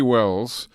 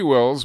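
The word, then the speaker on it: Welles: His name is Jesse Wells. That is spelled W-E-L-L-E-S if you want to look him up.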